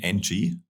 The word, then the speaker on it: Ng: You write him NG. So now the audience knows how to pronounce him. It's Ng because he's Cantonese.